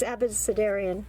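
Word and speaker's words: Abecedarian: and r this is i can't pronounce that abacidarian something like that abacidaria read it it's abisadarian okay um so she's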